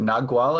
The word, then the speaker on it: Nagual: title of shaman, or is it Nagual? Is that the way to pronounce it? Yes, Nagual, yes.